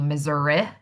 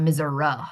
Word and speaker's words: Missouri: a short I vowel sound, it would be Missouri. Um not miser.